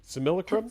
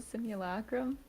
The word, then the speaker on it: Simulacrum: do you how do you want me to pronounce this card name? Similacrum? Simulacrum?